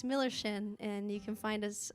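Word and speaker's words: Millerschin: My name's Milllerschin. It's spelled like if you had a friend named Miller, it'd be his chin, Miller's chin. It's fake German, so you can pronounce it however you want to.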